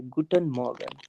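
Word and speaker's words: Guten Morgen: मॉ्गन नहीं करना है गुटन मॉ्गन मॉ्गन आर को थोड़ा सा लाइट लेना है ठीक है ना गुड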